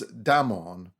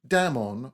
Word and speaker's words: Damon: most writers state, was Damon, whose name they say should be pronounced with the first syllable short.